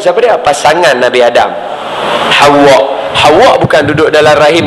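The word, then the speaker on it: حواء: nama dia Siti Hawa ejaan dia ha wau Alif Hamzah Hawa bacaan dia nama siapa nama Hawa ha kita duk sebut hawa hawa hawa hawa sebutan dia Hawa sebutan dia macam tu jangan Pi Eja nama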